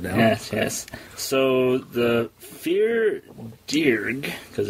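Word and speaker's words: Fear Dearg: don't use it now yes yes so the fear dear cuz it's that's how it's pronounced f e a r and then d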